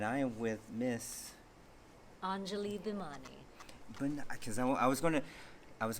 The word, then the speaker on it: Bhimani: so it's silent ish if you're Indian it's bimman but if you're if you're saying it like with the Indian accent it's bman bman but it's it's even like it's not an extra syllable it's a little tricky it's kind of an